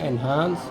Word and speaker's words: Enhance: Ini mereknya Enhance, tapi ini sebenarnya Enhance. Jadi ini sebenarnya polishing material ya, untuk polish itu. Nama mereknya Enhance, kita bacanya Enhance.